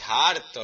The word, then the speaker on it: harto: Estoy harto, la H no se pronuncia.